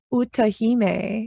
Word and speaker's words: Utahime: Didn't I say it right? Utahime. Oh, that's right. Utahime.